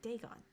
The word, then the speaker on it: Dagon: right here so I did say it right Dagon Dagon again was the main deity of the